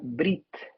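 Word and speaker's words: ברית: hebreo fíjate qué interesante una palabra que se pronunciaría brit en hebreo y lo cual parece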